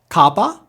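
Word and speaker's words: kappa: ioda e ioda e Kaa it's pronounced just like our K this should be easy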